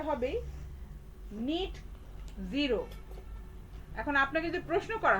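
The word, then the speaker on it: net zero: নিট জিরো, এটার উচ্চারণ কিন্তু নেট বলবেন না, ঠিক আছে? NET মানে নেট না, এটা হচ্ছে উচ্চারণটা হবে নিট জিরো।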